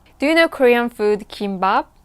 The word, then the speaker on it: gimbap: pronunciation is a kimba it's a long vowel some people actually pronounce it kimbap kimbap that's actually wrong